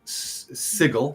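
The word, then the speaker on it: Sigil: So, Sigle, as I've been told it's pronounced, uh, when you go to the city of Dors, um, it's it's very present there.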